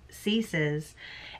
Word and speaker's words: Cece: think it was c ceases and that's it it looks like cece but i'm sorry it's how they pronounce it in the audiobook is cease um it might have